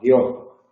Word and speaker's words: guió: La primera persona del presente tiene dos sílabas, guío. La tercera persona del pretérito perfecto simple tiene una sola sílaba, guió.